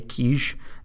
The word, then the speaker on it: Kizh: the key kiz h with other spellings and pronunciation including ki j quiche and Keyshia Rena and qu IC